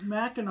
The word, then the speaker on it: Mackinac: No, it's pronounced Mackinac.